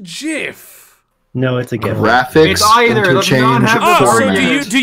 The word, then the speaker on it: GIF: are their own words therefore gif would be pronounced jiff because there are extremely like a really tiny amount of words they're coming at this under the assumption that English follows any of its rules I mean there are there are words where the eye where GI is pronounced ghee however those are the exception not the rule so it's Jim gift